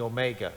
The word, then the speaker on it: Omega: We did the Omicron as a long O with a little bit more length of time to it as a long O. I mean the Omega.